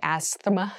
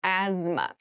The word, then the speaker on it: asthma: has very interesting spelling there's a th in the middle but we don't say Asma we say asthma so kind of ignore